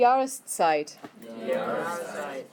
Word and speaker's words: Jahreszeit: Okay, the next one, die Jahreszeit. Harder to say because of the SZ combo in the middle.